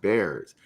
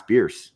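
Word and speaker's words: Bearss: Downs about beer Avenue it's not pronounced bears like and I was like oh Bears no it's beer I was today years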